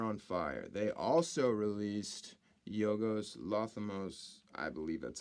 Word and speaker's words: Yorgos Lanthimos: They also released Yorgos Lanthimos. I believe that's how you pronounce his name.